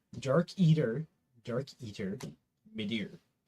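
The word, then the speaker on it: Midir: actually no I'll say dark eater dark eater mider m i d i r d a r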